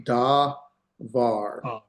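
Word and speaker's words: דבר: Uh, so this would be da var the v sound because there's no doggish lane in there, right?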